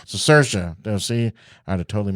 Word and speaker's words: Cicerchia: do you say your last name I'm cersa cersa see I had have totally messed that up